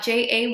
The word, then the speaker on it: Ceylan: j-1 um my name is unique it is pronounced je a why am i spelled c ey LAN um it is a unique name and it's 100% my parents fault but it's pronounced so I live in north burrow with my